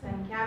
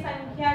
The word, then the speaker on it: संख्या: ये जो है वो ड नहीं है, क्या है ये नेजल साउंड है जिसका प्रोनाउंसिएशन क्या होता है संख्या, राइट. संख्या ये हमको ड नहीं ऐसे पढ़ना है पर ये अनुस्वार की जगह है, राइट.